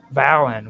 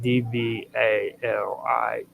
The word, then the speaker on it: Dvalinn: The name Valin, which is actually, I'm having a hard time saying it because it's spelled Dvalinn. So I'm just going to be calling it Valin.